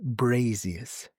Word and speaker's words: braziers: You're mispronouncing the word, madam. It's braziers.